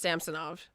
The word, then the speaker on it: Samsonov: Yeah, they said that at the beginning of the year that he wanted it pronounced Samsonov.